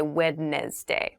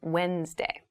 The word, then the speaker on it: Wednesday: a d there but we don't say wedness day we say Wednesday Wednesday the 18th Wednesday